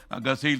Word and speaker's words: ഗസ: ഒന്നും ചെയ്യാൻ കഴിയുന്നില്ല എല്ലാം നിസ്സഹായരായി നോക്കി നിൽക്കുകയാണ് ഞാൻ ഗസ എന്ന് ഗസ എന്ന് തന്നെയാണ് ഇവിടെ എല്ലാവരും പറയുന്നത് ഗാസ